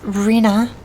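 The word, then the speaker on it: Rhinne: and listen for it it's pronounced reena the transcendent of time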